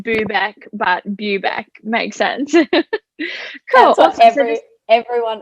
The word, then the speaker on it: Bubeck: your last name so if you want to pronounce it yep so everyone always gets confused it's bubeck view back okay i was pretty close i feel like i said boo back but bubeck makes sense cool every everyone always says that